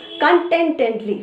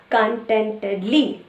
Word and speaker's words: contentedly: golden barley in the desert the hedgehog sent contentently okay so what is continuity means in a